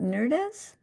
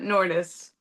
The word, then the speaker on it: Nordis: Do you pronounce it Nerdis? Like Lourdes, but Nordis.